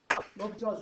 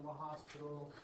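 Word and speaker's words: L'Hôpital: So, L'Hopital's rule. This is a great, that's pronounced L'Hopital, not La Hospital, or L'Hopital.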